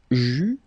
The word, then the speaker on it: j'eus: Final S not pronounced.